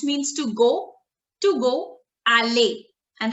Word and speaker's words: aller: verb is which means to go to go alay and how do we do the conjugation so basically the pronunciation of the conjugation of the verb alley